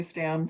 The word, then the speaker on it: Stamm: name right is it Stam well it's really pronounced Tom because it's a German name okay but most people say Stan so I answered like